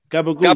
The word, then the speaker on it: gabagool: Gabagool.